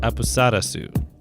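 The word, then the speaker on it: アプサラス: a mistranslation from Japanese in Japan of sources name is pronounced a Posada su it's common for consonant sounds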